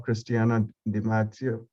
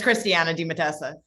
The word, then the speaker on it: Christiana Di Matassa: to kick things off cristiano demacia from under armour i think i butchered your last name yeah you did but i'll i'll help it's christiana di matassa thank you sorry before